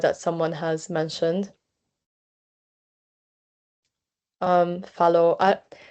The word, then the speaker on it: Fallot: Um Fallot. I I think the name is French, so technically should be pronouncing as Fallot, but I don't know. I think either way is fine.